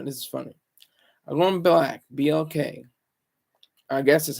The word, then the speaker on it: BLK: is funny I'm going black BLK I guess that's how you say it's not BL it's like it's implied that it's black you know but not